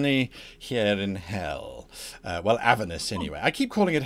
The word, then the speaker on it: Avernus: The stress should be the penultimate syllable. So it should be Avernus.